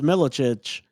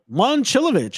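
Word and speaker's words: Momčilović: Iowa State has Milicic. Um Is that how you pronounce it? Milicic? Milovic? Milicic. I think it's Milicic. Mom Momcilovic. Momcilovic. I was way off.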